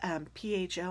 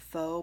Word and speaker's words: pho: We discovered the Vietnamese food called pho, and PHO. I know some people call it pho, but according to the Vietnamese person at the restaurant that we go to, he said it's pronounced pho.